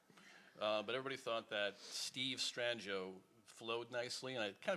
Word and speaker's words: Strangio: every time yeah yeah what's the correct pronunciation well italian would be stranger yeah but then it kind of became you know strangio and then strangio strangio and smith smith yeah it's a